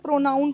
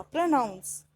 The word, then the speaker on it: pronounce: एक चीज़ और, मैं जैसे आप बोल रही हूँ आपको प्रोनाउंस करना, कुछ लोग इसी को इसको भी गलत बोलते हैं, उसको बोलते हैं प्रोनाउन करना। प्रोनाउन नहीं होता, प्रोनाउंस।